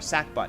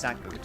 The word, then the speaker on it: sackbut: They called it back then it was called like a sack boot or sack butt is way you spell it but it's pronounced sack boot.